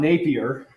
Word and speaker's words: Napier: the NEPA frequency because John Napier n a p i r i don't know if you're French it may be pronounced differently um John Napier is the